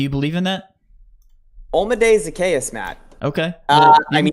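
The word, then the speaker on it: Zaccheaus: Zacchaeus.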